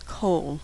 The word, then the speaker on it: kol: way it's pronounced, but you can pretty much assume that it's going to be an ah sound. The most common word that uses this unusual pronunciation is kol, which means all.